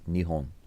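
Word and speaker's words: 日本: So the word for Japan in Japanese sounds nothing like Japan. It's Nihon.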